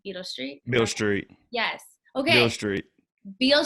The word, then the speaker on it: Beale Street: Beale Street. Yes. Okay. Beale Street. Beale Street. How do you say it? Beale Street. Okay, I thought it was Beetle Street.